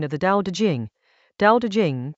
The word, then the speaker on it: Dao De Jing: Dao De Jing, pronounced Dao De Jing, is a short passage about what makes anything last.